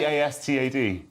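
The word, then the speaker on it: Båstad: Alan Bastard. A reference to the character Alan Bastard, yes. It's also town of Sweden. Is it? Bastad. I think it's pronounced Bastard, though.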